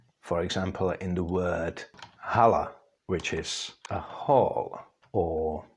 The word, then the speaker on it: hala: check it would be pronounced more fully more H like for example in the word Hala which is a hall